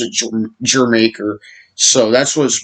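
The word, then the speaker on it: D'yer Mak'er: who it's it's pronounced your maker because it's a it's a it's a a pun on uh jamaica you know jamaica the country jamaica uh and um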